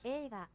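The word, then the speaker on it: 映画: Eiga.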